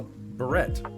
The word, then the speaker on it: barrette: Well, again, I've always been told it's pronounced a barrette. It's a barrette.